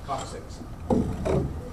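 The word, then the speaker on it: coccyx: back is the coxics remember to pronounce the word six on the end of that Co six okay now that's gives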